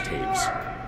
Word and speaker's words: Toews: because I would never have figured that Cole Adams' lead pronounces his last name as Taves. It's spelled Toews.